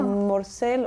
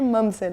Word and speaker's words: Mamselle: Tout le monde dit Mamzelle, ou Morcelle, ou Mourcelle, tout. Moi, Mamzelle, en tout cas.